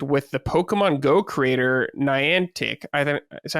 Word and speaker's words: Niantic: an AR project with the Pokemon Go creator Niantic. I think is that how you say it? Niantic. I think that's how you say that company's name. I think it's Niantic.